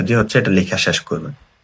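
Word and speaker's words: 来る: তারপর এইটা হচ্ছে টান দিবেন, দেন কমপ্লিটটা হচ্ছে টান দিয়ে এই এই সাইডেরটা ওই সাইডেরটা দিয়ে হচ্ছে এটা লেখা শেষ করবেন।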